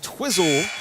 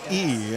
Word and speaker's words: Entwisle: And Twizzle is how they pronounce it here. Entwisle, and he hits the free throw. I remember that from doing their games in middle school when I was getting the initial pronunciations, and they said, make sure to enunciate that int. That's an important part of that.